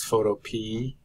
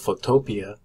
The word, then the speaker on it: Photopea: a reddit article that the creator of the site actually calls it photo P as if it were a sweet pea at the end so if you have